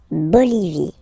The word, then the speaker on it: Bolivie: Okay, final E, not pronounced. La Bolivie.